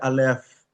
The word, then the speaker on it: Alef: Alef. Alef. Esa alef se pronuncia alf.